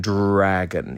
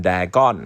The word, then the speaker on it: Dragon: A G O N ส่วน ที่ สำคัญ ใน คำ ศัพท์ นี้ ครับ ก็ คือ เสียง R Dr R A G O N ครับ ก็ ต้อง เป็น Dragon อย่า ออก เสียง เป็น Dragon นะ โดย ที่ อา มัน หาย ไป ไ ไม่ รู้ เลย ครับ อัน นี้ ก็ คือ